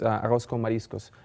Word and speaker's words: arroz con mariscos: The Spanish pronunciation is arroz con mariscos, rice and seafood.